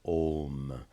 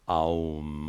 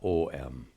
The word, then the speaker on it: Om: This is a comment on my video about pronunciation of Om, because it's becoming very popular nowadays. Aum, or writing it A-U-M, both of which are absolutely incorrect.